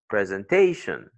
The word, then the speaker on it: presentation: Words that end up in IC, T-I-O-N, S-I-O-N, and A-L, we mentioned that earlier, you usually carry their stress on the syllable before last. Okay, l'avant-dernière syllabe.